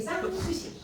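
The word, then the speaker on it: Sanssouci: 흔들렸고 이제 상수시 공장이라고이 상수시가 한국말 아니야 여기 쌍수시 불어예요. 도어 아니에요. 독일 있지만 불어예요. 그게이 쌍이라는게 SNS 프랑스와는 불어는 땡그때 자음을 발음 안 해요.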